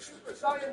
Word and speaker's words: Super Saiyan: It's a 2v3 and George needs to activate Super Saiyan mode if he wants to keep his team in it. It's pronounced Super Saiyan, not Super Saiyan.